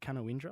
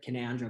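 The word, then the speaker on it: Canowindra: Is it Canoindra? Is that how you say it? Uh it's it's said Canandra, but Canandra. There you go. I told you I do want to say that right. So I've said it the way it's spelled.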